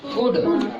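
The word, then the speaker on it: could: रहा ये क्या है कुड और देखो इसको क्या पढ़ते हैं शुड इसको क्या पढ़ते हैं उड तो कहीं एल का उच्चारण ला में आ रहा है क्या सर नहीं ना आ रहा है तो ये सब देखो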